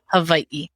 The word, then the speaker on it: Hawaii: let's just repeat it the w sometimes pronounces Aviv but there's definitely what we call an okina between the two eyes that make it a e sound on the end Hawaii thank you very much